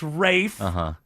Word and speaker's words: Ralph: is theth whatever Ralph it's Rafe finds the L is silent then drop it and